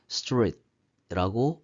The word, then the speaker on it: street: 그럼 한 번에 묶어서 하면 street라고 발음 소리가 나게 될 것입니다.